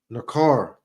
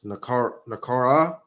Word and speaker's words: Nakara: Nakar. No, it's Nakara.